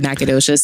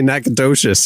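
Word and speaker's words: Nacogdoches: how to spell it, like me saying that there's a G in the word Nacadocious sounds weird. Yeah, it's weird. I'm telling you, looking at the letters phonetically, it does not say nacadocious when you It doesn't.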